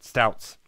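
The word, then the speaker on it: Stoudt's: because of its name it's how do you pronounce this trout stouts stouts yeah there's a like a D in it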